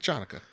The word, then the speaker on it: Chanukah: The Chanukah. Oh, okay. Hanukkah, you can spell it with a CH.